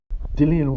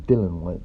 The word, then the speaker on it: Dillian: Dillian White, WBC mandatory heavyweight contender. Some people still call him Dylan White, but I'm pretty sure it's pronounced Dillian.